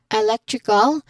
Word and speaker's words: electrical: Um so as we mentioned earlier when it comes to eal it means the stress falls three syllables again three syllables from the end. So we say it as electrical again electrical or we focus on leg with stress on that particular syllable.